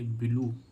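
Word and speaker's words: blue: आ रहा है तो इसको हम क्या पढ़ेंगे ब्लू ब्लू मींस क्या होता है नीला ऐसे इसमें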